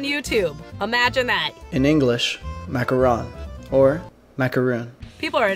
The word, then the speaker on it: macaron: Today I'm going to be tackling the almighty macaron. Now macaroons, that's not how you pronounce it. They're two different things.